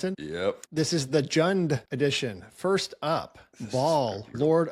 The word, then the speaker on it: Jund: Is that how you pronounce it? Yep. This is the Jund edition.